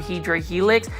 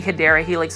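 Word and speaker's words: Hedera helix: to stick with it I was actually saying it the wrong way by saying um hedra Helix it's actually hyera Helix I'm thankful for the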